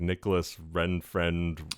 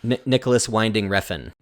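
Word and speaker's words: Nicolas Winding Refn: um uh what's his name i can never pronounce his name it's like nicholas ren friend whatever the guy who did it drive yep nicholas winding refn there you go thank you uh he uh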